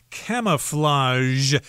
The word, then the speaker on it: camouflage: stand out right and this word is kind of difficult to pronounce because it's got the J sound in there so camouflage and sometimes it's called camo